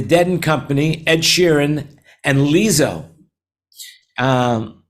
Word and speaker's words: Lizzo: company Ed Sheeran and lizzo um am I pronouncing that right Lisa lizzo lizzo lizzo yeah she's gonna be headlining